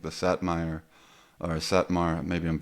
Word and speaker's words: Satmar: I thought it was like from like the Satm or Satmar maybe I'm mispronouncing that Jewish community. Satmar.